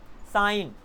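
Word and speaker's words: sign: कहीं पर भी आई जी एन मिल जाए किसी वर्ड में तो उसका मतलब होता है आइन, जी वहाँ पर साइलेंट हो जाता है। एग्जाम्पल्स साइन, डिजाइन, तो देखना डिजाइन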